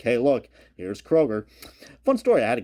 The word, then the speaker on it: Kroger: I knew quite well who actually pronounced this Kroger. Now, I'm not sure what kind of foreign language that was, but I was like, Kroger? Okay. I guess that's the G we're looking for in Kroger.